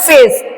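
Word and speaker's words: face: फिर उसके बाद है एफ ए सी ई सी के बाद ई आया है इसलिए ये हो जाएगा फेस इसको फेक नहीं बोलेंगे फेक नहीं बोलेंगे इसको बोलेंगे फेस फिर है सी वाई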